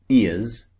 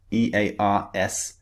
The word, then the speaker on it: ears: So the Z sound at the beginning and the end of a word is very slightly different.